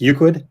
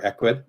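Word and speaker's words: Ecwid: Marcy says, I love ShipStation, and ShipStation connects with Euclid or Equid, depending on which way you want to pronounce it.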